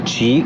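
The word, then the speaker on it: Qi: detta C che si legge C ma è scritto Q.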